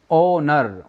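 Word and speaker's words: honour: यानी इस एच को ना पढ़ के हम ओ को पढ़ रहे हैं, ओ को पढ़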